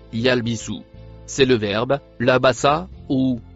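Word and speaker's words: يلبثوا: Le mot violet se prononce yalbisu.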